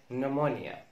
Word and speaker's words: pneumonia: بي ان زي كلمة نمونيا نمونيا نمونيا اللي هو الالتهاب الرئوي، وترودكتور يعني ديناصور او نوع من انواع الديناصورات او الزواحف.